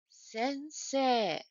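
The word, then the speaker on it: せんせい: then how about this sensei sensei it is pronounced a but written e it is also pronounced a what written e the same is the case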